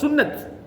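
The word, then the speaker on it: سنة: முதல்ல இப்ப நம்ம சுன்னா சுன்னான்றது அரபுல அந்த கடைசியில உள்ளது அந்த தாவை சொல்ல மாட்டான் அந்த தாவுல் மரபுத்தான்னு உதாரணமா ஆயிஷா அப்படின்னு சொல்லுவோம் அது உண்மையா சொல்லப்போனா ஆயிஷாத்து தான் அது மதரசான்னு நம்ம சொல்லுவோம் அது மதரசத்து அந்த தா வந்து உச்சரிக்க மாட்டான் விளங்கா சொல்றது அந்த கடைசில வர தா சுன்னான்றது சுன்னத் இப்ப நமக்கு சுன்னத்துன்னா தெரியும்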